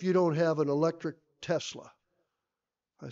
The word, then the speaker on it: Tesla: to go get a was it a Tesla or a Telsa I never can pronounce it right what is it Tesla Tesla Tesla the only test on